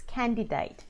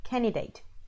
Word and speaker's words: candidate: up a fair bit so you might say candidate with a double in in there which is not correct so yeah and it's because it's a weak syllable so it's can eat